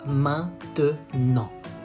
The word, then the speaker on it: maintenant: Pas maintenant. Maintenant. And say it fast. Maintenant. Maintenant. It's a silent E.